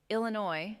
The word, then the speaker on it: Illinois: Illinois named after the Illino tribe. The S is silent.